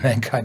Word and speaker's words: mankind: drive of mankind and the pronunciation on mankind is on man so we like to